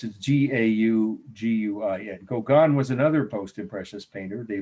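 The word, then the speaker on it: Gauguin: it if you wanted you know it's g-a-u-g-u-i-n kogan was another post-imprecious painter they both had dabbled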